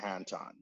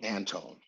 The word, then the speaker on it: Anton: not an actual singer my mother and father named meet Anton and that is how they preferred and that's how I had pronounced my first name but dear Weston would always hold me Antone Antone and we did many